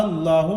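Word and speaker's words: الله: अगर अल्लाह के लाम से पहले ज़बर या पेश हो तो अल्लाह के लाम को पुर पढ़ेंगे, तो यहाँ पर अल्लाह के लाम को पुर पढ़ेंगे कायदे के मुताबिक।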